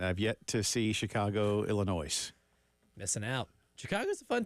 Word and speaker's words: Illinois: say that it's like the S is silent always has uh yeah it has